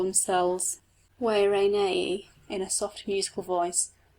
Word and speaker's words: Guarani: Heaven knows how we pronounce it. They, the Guarani people, call themselves Wairanei in a soft musical voice.